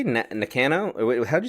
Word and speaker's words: Nakano: versus did you say Nakano? Wait, how'd you say that? Nakano. So yeah, again, my pronunciations are awful because to me she's always going to be Tam Nakano, but I'm wrong. Nakano.